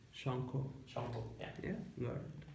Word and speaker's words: Sankha: Thanks, Shanko. Hey, Did I say it don't right? Thanks, it's like Did I say it right? Shanko.